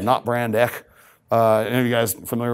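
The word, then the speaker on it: Not Brand Echh: It was a Marvel parody comic, but it has to be pronounced correctly because if you see it on the cover, it's Not Brand, E-C-C-H-H, exclamation, exclamation. But it's pronounced Not Brand Ek because the old commercials, here we have Brand X and Not Brand X.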